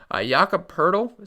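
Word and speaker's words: Jakob Pöltl: Jakob Poeltl. Someone told me that's how you pronounce his name.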